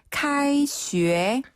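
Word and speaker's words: 开学: 계약이란 한자 그대로 카이슈에 카이슈에 카이슈에 카이슈에 네.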